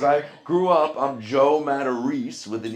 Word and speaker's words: Matarese: He goes, that isn't a Matarese. That's a Matarese.